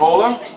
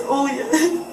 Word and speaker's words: Olya: How do you say your first name? Ola? It's Olya.